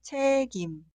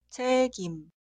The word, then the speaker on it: 책임: La sílaba posterior inicia con la consonante inicial ien, que es muda. La sílaba anterior tiene consonante final. Esta consonante final se traslada en el lugar de ien. En pronunciación. Por eso esta palabra se pronuncia 책임, 책임, pero la ortografía no cambia.